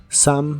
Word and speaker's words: some: que significa unas bolsas la o de some se pronuncia como a some bags some bags y